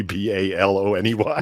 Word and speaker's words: bologna: It's like actually bologna, Baloney. No, it's spelled bologna, but you had to peel the little red strip off of it.